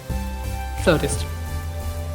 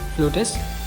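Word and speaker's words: flautist: Next word is फ्लोटिस्ट। हाउ इट is mistakenly pronounce is फ्लूटिस्ट, हाउ इट is actually pronounce is फ्लोटिस्ट यूएस में, और फ्लोटिस्ट इन यूके।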